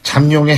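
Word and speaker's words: 잠룡: 여야 대권 용이라 그러죠 잠용의 행보를 분석해 보겠습니다 자 근데 말에요 발음을 잘해야 됩니다 잠용 이게 미음이 아니라 비읍으로 해 버리면은 이거는 안 되는 겁니다 자 잠재적인 용이다 그래서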